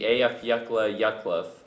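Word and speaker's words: Eyjafjallajökull: the equator is the ash emanating from the afaka yak volcano and yes that is the correct pronunciation in Iceland is beginning to linger new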